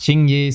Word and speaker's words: Qingyi: Oh, and I do know she's pronounced Qingyi, so if you left a comment on that, thanks for helping out the video.